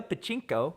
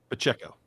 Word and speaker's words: Pacheco: fence move I am gonna go with Isaiah Pachinko Pachinko Pachinko how how do you pronounce that Garrett Pacheco Pacheco um right here at nine five I